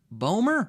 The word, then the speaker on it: Boehmer: The OE is a bit weird as a phoneme in the Anglo-Saxon world, but no, all good.